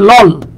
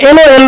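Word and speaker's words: LOL: এ লিখতে হবে কিন্তু আপনি যদি বলেন এল ও এল তখন কিন্তু এটা এন হয়ে যাবে বিষয় হলো গিয়ে এইটা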